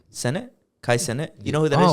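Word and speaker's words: Cenat: How do you say his last name? Canet. Senet. Kai Senet? Senet. Kai Senet.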